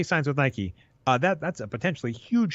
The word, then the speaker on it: Nike: signs with Nike Nike I say it wrong yep the Millennial thing I was just talking about I I always read it I read it forever and I'd already be saying Mike instead of Nike ok but let's let's